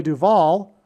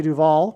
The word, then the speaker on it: Duvall: But Simon famously broke up with Shelley Duvall, which also rhymes with Hall, at the airport before